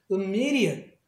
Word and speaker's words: immediate: 그래서 immediate 이렇게 발음을 해요.